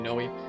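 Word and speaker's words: Nowi: I know there's different pronunciations, but the official one is supposed to be Nawee.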